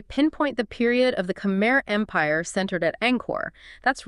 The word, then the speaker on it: Khmer: Right, Khmer, pronounced Khmer.